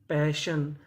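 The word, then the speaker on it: passion: ए का काम करेगा जैसे यहां पे लिखा है पी ए इसे पढ़ेंगे पै डबल एस है हमारा एक बार पढ़ेंगे और आखिरी में लिखा है एस आई ओ एन एस आई ओ एन को हम लोग पढ़ते हैं शन तो मीनिंग क्या बनी पैशन पैशन पैशन का मतलब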